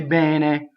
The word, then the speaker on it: bene: Some people say bene as you get farther north. Bene, right? Open E, that's your standard Italian. Bene, open E, close D.